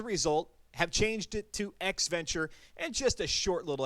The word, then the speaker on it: EXEventure: or an adventure but to make it roll off the tongue a little bit better x venture and that's how you